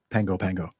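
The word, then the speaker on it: Pago Pago: It's spelled Pago, but I was corrected right away when I said Pago, and they go, nope, Pango.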